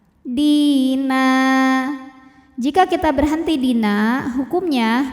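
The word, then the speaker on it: دِينًا: Di juga sama matobi'i zahiri, sebab ada ya sukun yang sebelumnya berbaris kasroh, maka huruf dal kita panjangkan 2 harokat. Dina.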